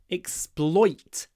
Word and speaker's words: exploit: they are exploiting you exploit it's got the unusual oi or the rare oi sound oi isn't in so many English words but here it is exploiting why isn't